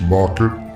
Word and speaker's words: Laukat: It's pronounced Laukat.